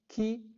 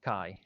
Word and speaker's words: chi: is done in the key squared test key squared test or actually sorry that's pronounced chi in english so the variable that